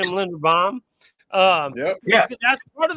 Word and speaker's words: Linderbaum: I think that's how you say his name, Linderbaum.